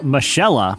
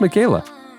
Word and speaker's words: Michaela: I think that's pronounced Michaela. Take away the A, and how would you say it? Oh, Michelle, but she has an A. It's Michaella. Michaella. That's Michaela. It seems like a K should be in there.